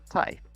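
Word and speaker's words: tai: is spelled like t it sounds the same as t-i-e in english so thai in english is the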